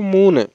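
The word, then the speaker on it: മൂന്ന്: তিনকে মালায়ালাম ভাষায় আমরা বলবো মুনে। তো এই মুনেকে আমরা সাধারণভাবে মুনে বলে থাকি। ঠিক আছে, তো কেউ কেউ কখনো কখনো উচ্চারণ করতে ভুল করে ফেলে যে মুনে বলতে হবে। ঠিক আছে, তাহলে মুনে, তিন হচ্ছে মুনে।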